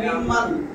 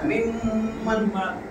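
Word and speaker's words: مِمَّن: না, এইখানে দুইটা জিনিস আছে, কিন্তু কি উচ্চারণ? মিম্মান, মিম্মান, এখানে আছে মিম যোগ মান। ওই মিমের ধরছে এদিকে মিম হয়ে গেছে।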